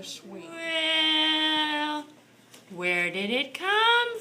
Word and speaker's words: Sui: Actually, Mr. Lorenz, it's pronounced a sweet.